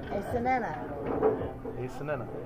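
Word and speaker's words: Aicinena: Ace Sienna. Sienna. S-N-N-A. It's A-I-C-I-N-E-N-A. Ace Sienna. See, now you said it right.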